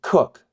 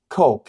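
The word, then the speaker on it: Coke: as Bron uh Littleton cook Koch if you were pronounce it as written Blackstone maand holsworth and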